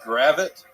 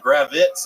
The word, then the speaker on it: Gravit: So, my last name is Gravit, right? And uh people just kept pronouncing it incorrectly at the open mic. So they were adding like Z's on it. Gravitz and